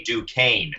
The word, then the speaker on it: Duquesne: It's actually Duquesne is how you pronounce it. Oh, my goodness. Duquesne.